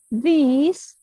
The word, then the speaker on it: these: Perbedaan cara baca yang dengan yang pakai I biasa adalah yang ini lebih agak dipanjangin dikit I-nya, lebih I. These.